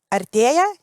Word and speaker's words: Artea: And I will pronounce it in Lithuanian because it's quite important. Artea is the meaning of getting closer.